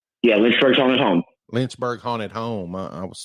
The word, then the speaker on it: Lynchburg: yeah you're also a guide at the the linzberg the haunted lynchburg house right yeah lynchburg's on his home lynchburg haunted home i was saying it wrong that